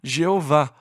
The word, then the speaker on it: Jeová: quais eram as vogais o Consenso geral é que o nome seria pronunciado eavel e mas em algum momento surgiu a pronúncia Jeová ou e a ver que se tornou mais popular mas e aveh ou e talvez seja a pronúncia correta embora não tenhamos certeza este é o nome